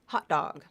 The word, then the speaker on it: hot dog: So I have a 2-word phrase, hot dog, okay? So it's typically pronounced as, that final T is typically pronounced as a glottal stop T, just vocal cords.